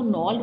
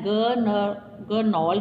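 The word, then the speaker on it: gnarled: द नॉल्ड, अब इसको नॉल्ड बोलना है, ग नॉल्ड नहीं बोलना है, इसमें जी नहीं आएगा, साइलेंट है।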